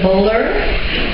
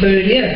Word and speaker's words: Beaulieu: And I know too that people pronounce it very differently in America. It's a little trivial thing. We've been called everything from Beaulieu to Bowler to Beaulieu. And my father is very upset because no one knows really how to pronounce the name. And just for your information, it's Beaulieu. And it's a little French accent too.